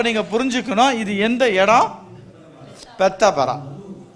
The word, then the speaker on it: பெத்தாபரா: மறுபடியும் ப்ரொனவுன்ஸ் பண்ணுங்க. பெத்தா பரா.